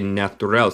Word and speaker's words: natural: Nota mi pronunciación de natural. Se dice natural. Natural. Natural. Yo digo el T más como CH en mi acento, el acento estadounidense.